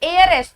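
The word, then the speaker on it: heiress: तो इसका प्रोनाउंसिएशन कैसे शुरू हुआ, एयरएस, किससे, ए से। और ए का साउंड होने पे भी आर्टिकल क्या लगता है, एन लगता है। भले ही एच से शुरू हो रहा है लेकिन साउंड किसकी है, ए की।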